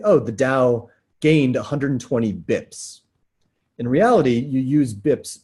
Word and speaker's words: bps: Next word, I love this one, BIPS, B-I-P-S. When you say it out loud, you say BIPS. When you spell it, it often is BPS.